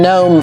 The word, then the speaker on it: gnome: Say it with me, gnome. It's spelled G-N-O-M-E. But don't ask me why the G is silent, because I have no idea.